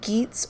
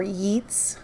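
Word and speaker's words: Geats: we also talked about geets or yeats you might hear it pronounced both ways so that's just a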